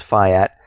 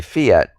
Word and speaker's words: fiat: the Fayette system now many people pronounce it different ways the correct pronunciation is Phi at many people just say Fiat however you want to pronounce it I like to say Fiat but when we look